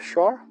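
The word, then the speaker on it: sure: un show hay ushua Está seguro hay un Shore pronunciamos Shore a Joshua Está seguro o segura hay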